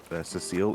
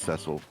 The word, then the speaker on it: Ceil: Oh, by the way, it's not uh Cecile, it's Ceil. That's how you pronounce his name.